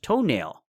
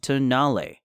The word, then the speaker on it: Tonale: the concept car which is named after an Italian mountain pass and is not pronounced toenail on display at the